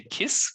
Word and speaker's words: cis: And it comes from the Latin, which I realized this morning would actually be kiss, like it's a hard C.